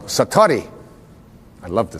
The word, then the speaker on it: satori: it's called excuse my Japanese but it's called Satori I'd love to say that Satori s a